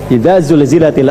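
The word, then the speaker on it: زلزلت: kalau baca idza zul Kan zulzilatil ardu zilzalaha. Ada yang bacanya sambil dijilat-jilat. Ijajul jilatil ardu. Ah itu yang keliru.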